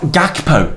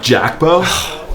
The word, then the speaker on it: Gakpo: It's not Gakpo, Thad, he's Dutch. Pronounce it properly. Jackbo?